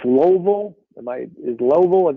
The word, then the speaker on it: Louisville: of course you know we pronounce it louisville automatically like it's louisville what's wrong with you exactly only two syllables yeah yeah that's it